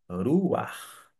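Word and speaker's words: רוּחַ: é um Pat aqui Note que eu pronunciei eu pronunciei R eu não da forma como eu falei até então consoante vogal consoante vogal pelo contrário ruar acabou que ficou o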